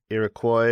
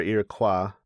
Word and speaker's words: Iroquois: Actually, in the Wikipedia entry, it's pronounced either way, Iroquois or Iroquois.